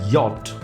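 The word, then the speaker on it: Jot: german not i'm sorry j is pronounced as yacht yacht as it is written there's no sound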